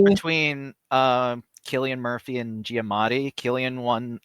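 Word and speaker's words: Cillian: San Killian Murphy for I never know if it's San or Killian I know like am I been saying it wrong this whole time no I I thought no you know what I knew it was Killian and then people started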